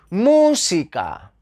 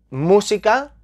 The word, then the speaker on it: música: lleva tilde que fácil tenemos ahí música música llevan la sílaba tónica en la antepenúltima posición lleva